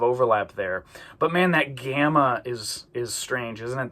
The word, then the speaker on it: gamma: The gamma uh the G sound is usually a hard G a G sound like that. Um it like the word gamma. It's not J like George. It's G. Okay.